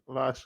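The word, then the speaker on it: Laschian: I hope I'm pronouncing that correctly. Lashian after Christopher Lash or Lashian. Lashian. You got it right. Lashian.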